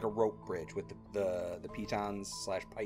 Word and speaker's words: piton: We take it slow, and we create, like, a rope bridge with the pitons / pitons, I don't know that word. I always say pitten.